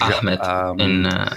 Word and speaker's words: Ahmed: It's pronounced Ahmed, I think.